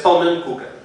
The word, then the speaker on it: pannenkoeken: of pancakes, it has pannenkoeken. So it's a little bit silly and uncomfortable what's happening. The pronunciation has a linking schwa.